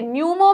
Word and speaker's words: न्यूमो: है पोस और देखिए न्यूमो में क्या आता है प आता है राइट पी साइलेंट है आ तो रहा है